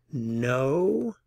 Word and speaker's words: know: Know a lot of people. Know a lot of people. Noten la pronunciación aquí. La K no se pronuncia, es muda.